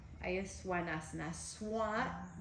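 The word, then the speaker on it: Svanasana: Then you see swanasana. Ahí es swanasana. Swan, pronuncias el V chiquito como W. You pronounce the V's in the middle like a W, so it's swa, like a swan.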